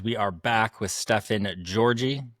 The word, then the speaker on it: Georgi: We are back with Stefan Georgi. Said correct, yeah? It's Georgi. Georgi. It's spelled like Georgi, so it would make sense.